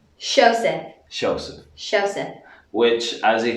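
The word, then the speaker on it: Seosamh: This name is Shosef. Shosef.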